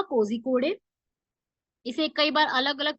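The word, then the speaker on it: Kozhikode: और अभी ये न्यूज में इसलिए है क्योंकि केरला का कोझिकोडे, इसे कई बार अलग अलग प्रोनाउंसिएशन से भी जाना जाता है, कोजिओडे, मतलब अलग अलग जगह की प्रोनाउंसिएशन है।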